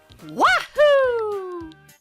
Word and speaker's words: Wahoo: I think it'd be more like Wahoo! Like that. Wait. No, we gotta... Yeah, I think we need to change the pronunciation of that. Wahoo! See that? Not woohoo, wahoo!